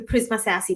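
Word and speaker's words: Prisma SASE: is it prisma sassy prisma sassy is that how you say it yeah that's how you say it and um prisma so adam is basically an add-on to the prisma sassy portfolio and prisma sassy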